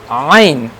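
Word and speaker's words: ع: Ain, it will also be pronounced when we will enclose our throat.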